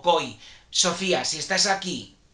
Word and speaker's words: Coll: Coy, perdón, porque otra vez como Almacor, perdón, claro, como se escribe Coll, pues yo igual digo Coll, ahí lo pronunciaron como Coy.